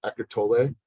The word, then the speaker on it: Eckhart Tolle: There's a book, and I think I always pronounce it wrong, Melody says, Eckhart Tolle.